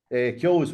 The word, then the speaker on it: Keoghs: Keoghs, well, you got the pronunciation right first anyway, Ballymakenny.